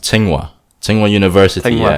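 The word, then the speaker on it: Tsinghua: you say um it's it's pronounced ting wa ting one university yeah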